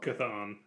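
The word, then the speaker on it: Chthon: as well um now how do I pronounce this character's name Bob kathon kathon okay wow the CH oh okay yeah that makes sense cathon appears as a cloud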